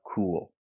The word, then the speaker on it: cool: let's talk about the pronunciation of cool we have the long ooh sound like Moon and food C but when we connect to the L we use a dark L and we have an